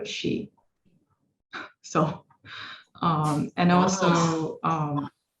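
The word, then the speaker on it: 十: well um 10 uh because in chinese 10 is in mandarin 10 is pronounced as uh she so um and also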